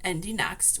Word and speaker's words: IndyNXT: So, it's NXT, but it is pronounced Indie Next, which is formerly known as the Indie Lights series.